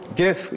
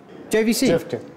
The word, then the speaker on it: JVC: Jeff. What is that? Jeff Jeff. Ah, JVC. Jeff. Is that how you pronounce it? Which one? Jeff. Which one is it? JVC. Jif JVC. It's JVC. Jif.